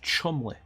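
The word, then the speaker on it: Cholmondeley: pronounced how it's spell that's pronounced Chumlee Chumlee if you've ever played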